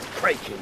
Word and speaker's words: Kraken: Always heard it said Kraken. Oh, with a long A? Ah, No. Kraken's how it's pronounced in the original Scandinavian.